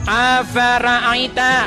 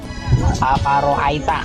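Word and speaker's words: أفرأيت: Afara'aita, betul tidak? Salah. Oke, apa bacanya? Afaroaita.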